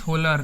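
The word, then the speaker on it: Wöhler: Friedrich होलर ने। थोड़ा spelling देखिएगा, लेकिन इसका नेम देखिए, इसको फ्रेडनिच होलर, WOHLER, फ्रेडनिच होलर।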